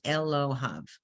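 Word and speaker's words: אֱלֹהָיו: It has to have the yud and the vav, and it's pronounced Elohav.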